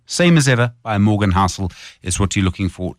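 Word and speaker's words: Housel: Hel is spelled H O U S E L. Same as ever by Morgan Hustel is what you're looking for to Google.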